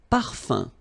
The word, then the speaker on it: parfum: Un parfum. So remember, even if you've got this UM like that, phonetically it's exactly the same thing as if you would have UN.